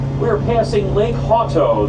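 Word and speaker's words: Hauto: We're passing Lake Hoto. That's spelled H A U T O on our left.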